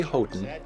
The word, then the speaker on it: Houghton: And we do here at Arizona Public Media go with the family's preferred pronunciation, which is Houghton. Boy, I'm not sure I've ever heard that. We say Houghton because the family, the